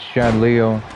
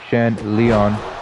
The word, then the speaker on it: Shan Leon: Brought in one of his good friends, Shan Leo. Shan Leon.